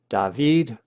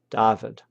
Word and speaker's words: David: The Greek accent is on the last syllable, David, while the Latin accent is on the next to last syllable, David.